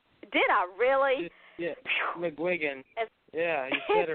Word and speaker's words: McGuigan: actually said it right did I really yeah McGuigan yeah you get it right waking up what